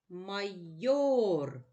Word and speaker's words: майор: наголос у слові майор майор наголошений голосний о наголос падає на другий склад що це майори давай